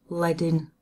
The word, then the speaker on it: leading: Layden as you can see spell reading it's pronounced leading because these it comes from the strips of